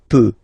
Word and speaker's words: peux: Okay, final X not pronounced here. Okay, so you get X, but you don't pronounce it. So basically, you get the sound peut. Je peux. Okay, so I can, je peux. Okay, then tu peux. Same pronunciation and same spelling or writing. Okay, P-E-U-X. Okay, you don't pronounce the final X.